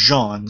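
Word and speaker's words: J'onn: Just a quick nitpicky question: is his name like Jean or Jon? Well, it's technically it's spelled like J little slash like comma mark ONN. It's pronounced Jean, kind of like a little French thing.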